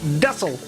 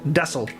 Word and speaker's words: Texel: of the mainland called desel or it's spelled texel but i think they pronounce it dessel uh and texas is